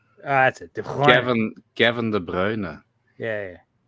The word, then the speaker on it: De Bruyne: Or how do you pronounce it? De Bruner.